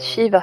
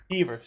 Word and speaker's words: Skeever: You said Shiva slow. Skeever. How do you say it? Skeever. You were. Fewer. Skeever. That's how it's Skeever.